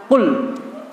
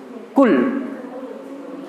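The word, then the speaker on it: قُلْ: qulya ayyuhal kafirun katakanlah full ini perhatikan bacanya pakai love full jangan dibaca cool ini maknanya berbeda antara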